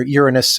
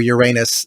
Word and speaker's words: Uranus: earlier about um uh either Uranus or Uranus the beautiful thing with those pronunciations is that they're both potty humor or at least the